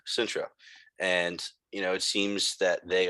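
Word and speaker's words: Cintra: they are just arriving at Zintria, the Elvish pronunciation of Sintra.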